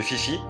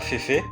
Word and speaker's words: Fifi: ont parlé mais de Fifi. Oui, ça prononce bien comme ça et pas Féfé.